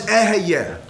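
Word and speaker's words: אהיה: The name of God is eheyeh. Really shouldn't really pronounce it, but for educational purposes, I'm telling you it's eheyeh.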